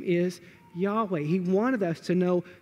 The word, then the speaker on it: Yahweh: the best we can the name of god was y-h-w-h it's like the sound of breath that sort of idea now in order for english speakers and people to be able to pronounce his name we call him yahweh that is the name